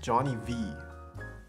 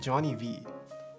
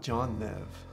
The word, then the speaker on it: Johnny V: I know you didn't mean to say my name, but it's pronounced Johnny V. Oh, it's John. Oh, I see it. Johnny V. It's not John Nev.